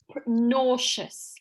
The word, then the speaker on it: nauseous: Yes, nauseous. It's spelt a little strangely, but that's how we pronounce it.